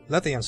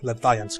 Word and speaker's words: Lethian's: to spoil my fun let the ants course in so that's so that's how it's pronounced not Latvians crossing well anyway she frowns